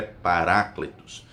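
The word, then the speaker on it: παράκλητος: palavras para ecléticos né a pronúncia correta é paraclitus significa outro igual a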